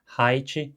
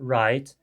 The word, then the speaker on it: right: nativo não vai perceber que height era para ser right, porque em inglês ha e ra são dois fonemas diferentes, assim como t e ch também são dois fonemas diferentes.